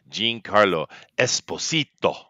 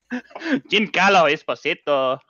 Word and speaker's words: Giancarlo Esposito: Wow, you mispronounced his name horrible. His name is Giancarlo Esposito. Giancarlo Esposito.